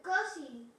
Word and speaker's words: cousin: Cousin, es como una A, yes?